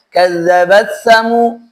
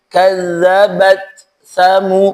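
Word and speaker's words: كذبت ثمود: Jangan buru-buru karena ada bacanya ada yang orang membacanya kadzabatsamu kadzabatsamu. Seolah-olah huruf itu melebur ta melebur ke tsa. Padahal ta di riwayat kita harus dibaca dengan tegas.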